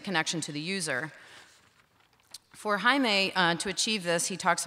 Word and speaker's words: Jaime: My name is Jaime, and I'm really happy already to hear that they pronounce it really well, because it's not easy.